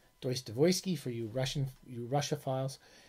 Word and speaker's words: Dostoyevsky: biography of of tolstoy of dostoyevsky which is pronounced deutsch devoesky deuce devoysky for you russian russia files and they were